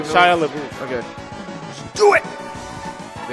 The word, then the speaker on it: Shia LaBeouf: Shia LaBeouf, man. If that's, is that how you say his name? Yeah. Just like Shia LaBeouf.